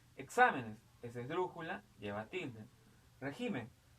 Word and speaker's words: régimen: Régimen, régimen es una palabra adoptativa. Régimen, ¿no? Régimen, régimen, ¿ok? Es esdrújula, tenemos acá.